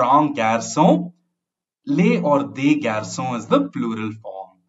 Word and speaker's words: garçons: For example, le garçon or un garçon, les or des garçons is the plural form. We just add an s, but we don't pronounce it.